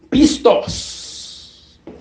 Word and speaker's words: pistos: La fidélité, ce mot vient du grec pistos. Le mot fidélité vient du grec pistos. Pistos qui s'écrit P-I-S-T-O-S.